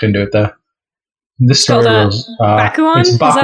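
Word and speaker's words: Bakuon: This story Bakuan? Is that how that would be pronounced?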